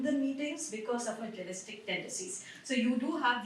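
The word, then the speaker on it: gelastic: So it's pronounced as jealistic.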